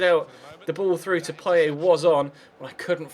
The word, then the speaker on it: Payet: Payet and call him Payet. But there's a pronunciation site I use, and I've had it confirmed from French people as well that you do not pronounce the T. It's Dimitri Payet.